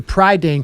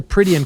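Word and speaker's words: Prydain: of welsh mythology books lloyd alexander wrote the pride dane chronicles not the pridian chronicles i mispronounced it and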